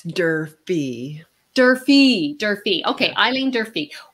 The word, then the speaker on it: Durfee: in coffee enemas i'm really excited to welcome eileen durfree did i pronounce that properly it's derpy derpy derpy okay eileen durfee welcome eileen to